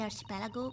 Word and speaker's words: archipelago: Well, consider the Japanese archipelago. I'm not sure is that how you The pronounce that in islands English. of Japan. Archipelago, so you were really close. Oh, because in Italian we say archipelago, but I don't know if that's it.